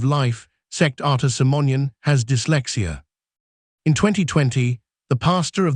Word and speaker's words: dyslexia: name of his disease instead of saying I have dyslexia he says I have dlecta dyslexia is an incopy